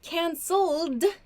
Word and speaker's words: cancelled: for example so use cancelled in the past tense the pronunciation here is a d sound cancelled cancelled there so